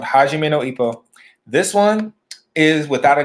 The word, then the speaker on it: Hajime no Ippo: people know about this one but it is pronounced Hajime no Ippo it's called Hajime no Ippo this one is without a doubt one of